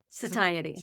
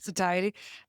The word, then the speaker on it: satiety: Satiety. Satiety.